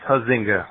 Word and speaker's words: Huizinga: Jon, it's Huizinga, right? Oh, I'm going to pronounce it correctly. Huizinga.